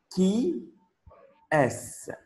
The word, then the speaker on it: qui est: So how to pronounce? It is qui est.